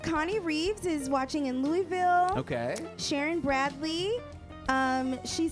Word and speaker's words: Louisville: You got to say it right. Louisville. I was saying Louis, thinking of Louis Vuitton, but that's okay.